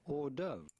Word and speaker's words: hors d'œuvre: The H and the S to hors are silent, so do not pronounce them.